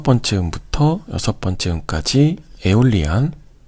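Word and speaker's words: Aeolian: 그리고 여기 여섯 번째 음부터 여섯 번째 음까지 에올리안. 여기 발음이 에올리안이라고 읽으시면 돼요.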